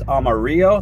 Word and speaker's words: Amarillo: I believe, I looked it up, Houston is 80 feet above sea level, and we are headed towards Amarillo. That's the correct pronunciation. It literally means yellow, people.